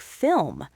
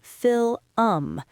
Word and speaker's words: film: Or think about a word like film, F-I-L-M. The L and the M are right next to each other. A lot of learners will say fil-um. They turn a one-syllable word into a two-syllable word.